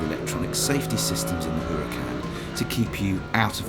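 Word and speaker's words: Huracán: the car you were looking at pronounced Huracan replaces the 11-year-old gardo and is according to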